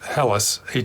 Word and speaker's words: Helles: C German health and I think is pronounced helis hele s the overall impression it's